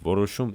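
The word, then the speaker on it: որոշում: Например, эти слова произносятся как ворушум и ереко, то есть в начале слова появляются еще звуки в и й соответственно.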